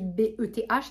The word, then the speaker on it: Beth: Au même moment, William et sa fiancée Beth, bah, elle n'est pas Beth là, mais ça s'écrit B-E-T-H, c'est Beth, comme Betty, Elisabeth, Beth.